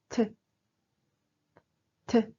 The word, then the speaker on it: ㅌ: We pronounce it like t, t. Repeat after me. T, t. A close pronunciation word in English is time.